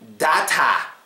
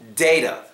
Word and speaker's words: data: memory memory next word data or data obviously the last syllable here gets swad it's data like information please don't say dat I know I tell